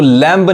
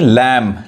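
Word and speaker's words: lamb: अब यहां देखिए लैम, इसको लैम्ब नहीं लैम। लैम मतलब क्या होता है, मेमना, भेड़ के बच्चों को मेमना बोलते हैं, यानी बी साइलेंट है।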